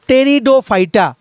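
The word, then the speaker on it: Pteridophyta: আমরা দেখলাম এইবার হচ্ছে নাম্বার থ্রি আমরা দেখব টেরিডোফাইটা টেরি টেরিডোফাইটা পি পিটা silent PTE আর আই ডি ও পি এইচ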